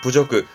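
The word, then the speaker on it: 侮辱: 이 모욕은 발음이 어려워요. 그렇다고 1번처럼 가진 않고요. 2번은요. 이겁니다. 구츠적그라는 건 굴욕적인 부분의 구츠적그. 4번의 세츠적그는 서력하다의 서력이었고 답은 3번이 부적그. 모욕은 부적그 챙겨두셔야. 자, 오늘 진짜 가지고 4개 또 마무리 지었습니다.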